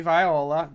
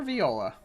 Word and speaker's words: Viola: Is it Viola or Viola? Actually, they're synonymous with each other. Okay. Some people pronounce it viola. Some pronounce it viola. Okay. Obviously, that's an instrument, so Right. you can go either way. Cool.